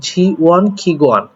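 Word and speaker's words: 지원기관: জি ওয়ান, এটা উচ্চারণটা হবে জি ওয়ান খিগুয়ান। এই জি ওয়ান খিগুয়ান শব্দের অর্থ হচ্ছে মূলত সহায়তা কেন্দ্র বলতে পারেন বা সহায়তা প্রতিষ্ঠান, তবে সহায়তা কেন্দ্র আমরা বলবো।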